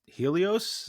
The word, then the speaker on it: Helios: Is it pronounced Helios?